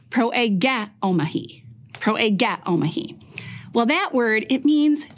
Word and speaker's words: proegeomai: This is how it’s pronounced, pro-e-ghe-omahi.